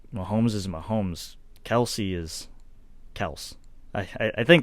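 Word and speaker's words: Kelce: mm-hmm and i'm glad you brought up travis kelsey and tyree kell because they're those are the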